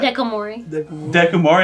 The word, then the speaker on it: Dekomori: Dekomori. That's how you say her name? Dekomori.